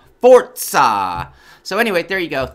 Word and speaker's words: Forza: really really really need everyone to know it's pronounced fort ha fort saw so anyway there you go that's all that's